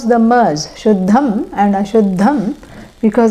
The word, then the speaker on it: Shuddham: Yeah, no need to pronounce the mers, Shuddham and Ashuddham, because it is followed by certain consonants and it takes on the nasal of that consonant, like this.